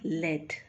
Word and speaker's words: lead: l-e-a-d what number two same spelling l-e-a-d but the pronunciation is lead what does lead mean lead means a metal you know a pencils are made out of lead so lead l-e-a-d Led Led means a metal